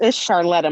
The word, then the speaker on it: Charletta: The people versus person then known as Carlotta, Kharletta. Am I pronouncing that correctly now? It's Charletta. Charlotta, so it's not with a KH, or is it pronounced that way?